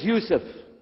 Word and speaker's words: Yousef: we'll work on itah my name is Yousef can you say Yousef you say Yousef very